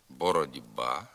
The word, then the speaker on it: боротьба: слова самі стають дзвінкими пишеться боротьба молод ба просьба ось де футбол баскетбол Тбілісі а вимовляється бородьба молодьба просьба ось де футбол баскетбол дбілісі пишемо а як же